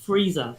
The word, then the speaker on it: Frieza: really liked was um i think it's pronounced frieza but it's f-r-i-e-z-a yes um and i i